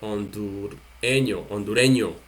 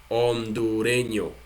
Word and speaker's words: hondureño: Honduras, we delete AS and we pronounce hondureño. So we have salvadoreño, panameño, puertorriqueño, hondureño.